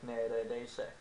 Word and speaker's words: neredeyse: Neredeyse. But we usually pronounce it as neredeyse, omitting the second E.